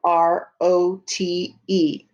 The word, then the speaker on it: wrote: r o t e the w and r say er so i'm going to stretch it out rote i'm going to say it fast or shrink it rote now i'm going to